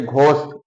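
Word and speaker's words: ghost: जब जी एच किसी शब्द के प्रारंभ में आता है, तो जी एच का उच्चारण घा पढ़ा जाता है। जैसे घोष, अगला नियम, जी एच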